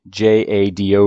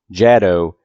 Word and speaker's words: JADO: evidently i've been pronouncing j-a-d-o wrong it's not shadow it's jado with a long a the disclaimer is what